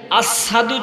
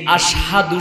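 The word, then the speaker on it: أشهد: মুহাম্মাদুর রাসূলুল্লাহ সাল্লাল্লাহু আলাইহি ওয়াসাল্লাম মসজিদে নববীর মধ্যে কেমন মুয়াজ্জিন রেখেছে, যিনি আশহাদু শুদ্ধ উচ্চারণটা করতে পারে না, আসাদু বলে, লফজটা ভুল বলে।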